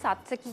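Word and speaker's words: tzatziki: सात्सकी का नाम टी से लिखा जाता है लेकिन इसको प्रोनाउंस सात्सकी किया जाता है।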